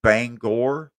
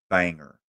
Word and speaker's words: Bangor: how to say it some say Bangor that would be wrong it it's Banger Banger like bangers and mash Banger Maine University of